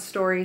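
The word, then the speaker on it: Storie: she called it sideways gravity her name was story Sanders story is spelled sto RIE she was a hiker drifter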